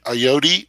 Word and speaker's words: Ayoade: 2 of them with the brilliant Richard Ayoade. Is that how we pronounce his name?